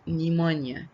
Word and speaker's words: pneumonia: The first disease called cholera, and the second disease of the bacteria called pneumonia. The P is silent.